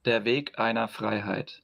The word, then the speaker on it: Der Weg einer Freiheit: And uh Nikita, can you please pronounce the name of your band so I don't absolutely butcher it? Sure. It's Diga Fryheight. Dig an Ina Fry height.